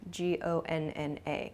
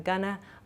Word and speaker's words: gonna: Try shortening both of these expressions. Going to shortens to gonna, G-O-N-N-A, gonna. I'm gonna, I'm not gonna. This sounds much more natural, at least in American English.